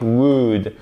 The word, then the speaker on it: would: C'est pas we could et on ne prononce pas le L. Please. C'est la même chose avec would.